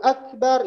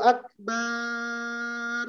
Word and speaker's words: Akbar: Jadi Allahu Akbar itu artinya Allah Maha Besar. Tapi kalau ba-nya dipanjangkan, Allahu Akbar, ba-nya panjang, maka artinya Allah itu beduk. Beduk itu bahasa Arabnya Akbar.